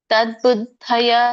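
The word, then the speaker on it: ತದ್ಬುದ್ಧಯಃ: ಇದರ ಉಚ್ಚಾರಣೆ ಹೇಗೆ ಮಾಡೋದು ತದ್ ದಕ್ಕೆ ವ್ಯಂಜನ ಇದೆ ಹಾಗಾಗಿ ಇದು ತದ್ ಅಂತ ಉಚ್ಚಾರಣೆ ಬರುತ್ತೆ ತದ್ ಅಂತಂದ್ರೆ ಇದು ತದ್ಬುದ್ಧಯ ಅಂತ ಕರೀತಾರೆ ತದ್ಬುದ್ಧಯಹ ತದ್ ಅಂದ್ರೆ ತತ್ಬುದ್ಧಯ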